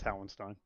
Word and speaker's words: Howenstein: No, it's Howenstein.